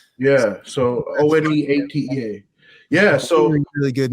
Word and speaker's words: One8tea: For listeners, it's one, like, the word 1-8 and then the number 8 and then T, like as in TEA. Yeah. So One8tea.